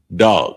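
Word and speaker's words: דג: So the next one is fish, and it's pronounced dog. Dog, and it's spelled DAG, but it's pronounced dog.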